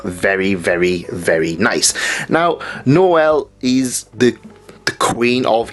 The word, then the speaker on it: Noel: how you pronounce things I pronounce it Noel as in Noel's house party but is Noel and yeah another very